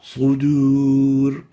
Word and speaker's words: صدور: What we need to pronounce it like is like this. صدور Sudur, sudur, and not sudur.